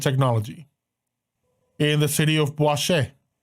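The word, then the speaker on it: Boichez: in the city of B spelled b o i c h e z very everything in this country has a let's call it French pronunciation in the country of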